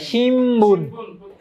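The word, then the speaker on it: 新聞: আচ্ছা আচ্ছা আচ্ছা, ম বলছে যেমন আমরা বলছি শিমবুন, শিনবুন লিখি কি শিনবুন, কিন্তু বলে কি শিম, মানে শোনা শোনা শিম শোনা, শিমবুন।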